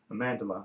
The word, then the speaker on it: Amandla: I thought Amanda Steinberg did Amandla, okay, that's pronounce her name, Steinberg.